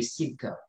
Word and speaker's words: CIRC: Le CIRC, je l'ai appelé le cirque. Donc, le cirque, mais ça s'écrit avec C à la fin.